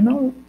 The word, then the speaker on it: não: Só que no final eu não consigo perceber o O, eu percebo o U. Olha, não. Eu não falo não o, eu falo não.